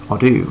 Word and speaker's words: Odoo: to open Erp and now it is called ODU or Odo depending on how you want to pronounce it the open Erp dopy file describes